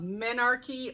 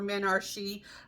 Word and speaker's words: menarche: So for those with a female reproductive system, sexual maturity comes in the form of menarche or menarche. I've heard it pronounced both ways.